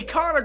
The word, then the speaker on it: Ikana: there and here we are back in the econo graveyard i actually said it right that time